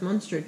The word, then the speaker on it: Muenster: it's a light flavor it's pronounced Muenster cheese like monster but monster pretty sure